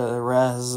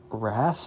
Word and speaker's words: Rez: Well, apparently it's more similar to Rez, but also Ras, I guess?